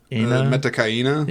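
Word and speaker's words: Metkayina: Metakaina?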